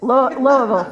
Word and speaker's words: Louisville: And that's kind of, you know, that's kind of the Louisville. Yes. Yes. Notice I say Louisville. Loville. See? Yeah. We're not saying it right.